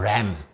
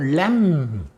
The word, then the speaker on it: lamb: 요건 B자가 묵음이고 요건 램, 요건 램.